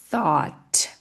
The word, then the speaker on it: thought: Então aqui thought, ou seja, mais uma palavra que temos o gh fazendo vários nadas.